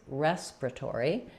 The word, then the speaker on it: respiratory: if you see well, they changed the ending, respiratory, and we changed the beginning, respiratory. So we kind of drop this here and they drop this here.